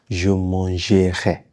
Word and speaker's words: je mangerai: You don't really pronounce it when you're speaking fast.